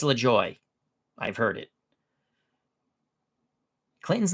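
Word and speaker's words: Lajoie: know who they're talking about cardinas cardinas nap lejoy it's lejoy I've heard it it's lejoy I'm telling you it's lejoy I've heard it Clinton's not always right right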